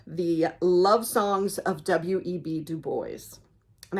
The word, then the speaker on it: Du Bois: And I think the first couple times I said it, I said Dubois, but I know W.E.B. Dubois. I know how that's pronounced. So I know that S goes there, even though it doesn't go there in Illinois.